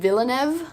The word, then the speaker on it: Villeneuve: and yeah plus it's being directed by Denis Villeneuve I think that's how you pronounce it and he's an incredible director he